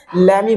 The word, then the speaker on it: lemme: लेट मी के short form को लेमी बोल देते हैं।